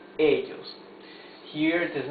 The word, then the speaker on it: ellos: I have underlined the vowels or the syllables that carry the accent in the words. Okay? So here it's ellos, not ellos. No, ellos.